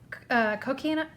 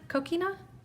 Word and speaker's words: coquina: their blue white I have a hard time pronouncing this cocaina Coquina it's C Co q UI na okay I